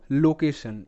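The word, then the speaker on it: location: আমরা দেখতে পারছি যে টি আই ও এন যদি পাশাপাশি থাকে তাহলে সেখানে কিন্তু টি আই ও এন এর উচ্চারণটা সান হয় অতএব এই ক্ষেত্রে টি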